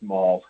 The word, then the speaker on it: Maul: It's actually pronounced Maul, not Mail.